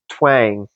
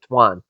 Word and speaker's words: Tuan: friend I believe his his name is pronounced twang or Tuan sorry Tuan and he uh he's uh